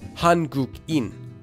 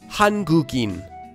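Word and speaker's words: 한국인: Because there's an empty letter at the beginning of the sound in, whatever letter before it can flow through it as if it were connected. Here, the sound gu comes before in. So, we can combine it to sound like this.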